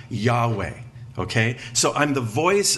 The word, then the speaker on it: Yahweh: to as the tetragramaton the four consonants YH wh most popularly pronounced Jehovah probably most accurately Yahweh okay so I'm the